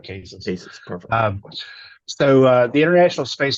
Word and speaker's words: CASIS: correct you but it's cases uh sorry an acronym Center Finance in the science in space so there is actually no correct pronunciation but in the house here we we call it cases so uh the International